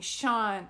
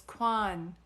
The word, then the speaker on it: Quan: friend's name is Quan I keep saying Sean Sean but it's Quan Quan Quan okay yeah I don't